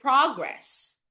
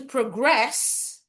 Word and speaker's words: progress: For example, the word progress, it's a noun. To progress, it's a verb.